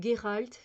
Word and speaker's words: Geralt: Contre ces menaces, il faut un tueur à gages à la hauteur et Gérald ou Geralt, il y en a ça dépend, ils prononcent un peu différemment, moi je dis Gérald, est plus qu'un guerrier ou un mage, c'est un sorceleur.